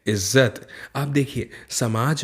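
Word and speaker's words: इज़्ज़त: ज नहीं पढ़ सकते, इज्जत नहीं बोलेंगे, इज्जत बोलेंगे, क्योंकि यहाँ पर उसके नीचे जो छोटी सी बिंदी लगी है इसे कहते हैं नुक्ता। जब ये लगा होता है तो उच्चारण अक्सर बदल जाता है।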